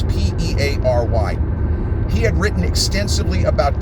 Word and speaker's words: Peary: I think he pronounces it Perry, but it's Peary.